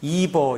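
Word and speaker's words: Eber: 에벨은 영어로 이버 이렇게 발음하는 거야.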